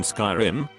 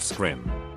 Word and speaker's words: Skyrim: Scrolls game I said oh you mean Skyrim he laughed condescendingly and said no I mean scrim thinking he was just mistaken I was like oh no it's called sky no it's not it's pronounced scrim at that point I